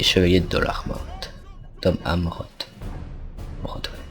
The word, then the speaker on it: Amroth: Tom Amroth. À chaque fois je prononce Armoth, sauf que c'est Amroth.